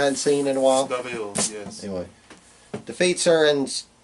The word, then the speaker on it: Deville: Am I pronouncing that right? Deville. That's another person I hadn't seen in a while. Deville, yes.